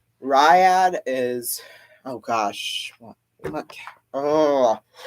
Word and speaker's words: Riyadh: I don't know how to pronounce that. It's Riyadh.